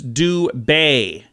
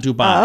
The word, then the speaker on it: Dubai: okay so Dubai the correct pronunciation is Du Bay not Dubai oh yeah Dube Antigua